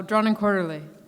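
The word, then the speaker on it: Drawn & Quarterly: um drawn and quarterly say it louder oh drawn and quarterly thank you couldn't pronounce it hark a vagrant uh spent five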